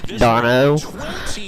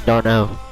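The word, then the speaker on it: Travis d'Arnaud: of the inning OB darno Rosario the the the D at the end of dar's name is silent it's Travis darno not Dar my baby boy Aussie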